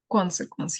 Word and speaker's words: consequence: So here, this word, how should we pronounce it? Consequence. The first syllable should have. Consequence, yes, it should be consequence.